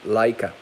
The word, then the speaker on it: Laika: It's pronounced Laika.